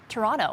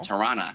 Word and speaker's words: Toronto: know how it's pronounced pronounce it like a true torontonian toronto toronto toronto it's not wonderful uh so that's the most mispronounced uh word itself is the city of toronto number two uh etobicoke